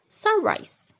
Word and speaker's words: sunrise: First, compound which combines two nouns like in the word sunrise. The stress is on the first syllable.